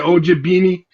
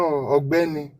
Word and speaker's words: Ogbeni: Is it OG Beanie? No, Ogbeni.